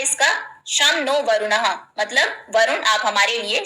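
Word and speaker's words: शं नो वरुणः: नीचे मोटो लिखा है शम नो वरुण शम नो वरुण जिसको शमन वर्ण प्रोनाउंस करते हैं च मीन इसका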